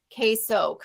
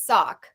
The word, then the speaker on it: KSOC: used to call me case Oak right but technically the proper pronunciation is sock it's a G-rated program